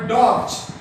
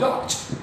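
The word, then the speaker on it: dogs: एस ई एस इन सच ए circumstance, ऐसी परिस्थिति में इस प्रोनाउंसिएशन विल बी ज, इसका उच्चारण क्या होगा? ज होगा।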